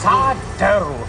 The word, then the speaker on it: sourdough: That's sourdough. No, mister. Accent on the dough.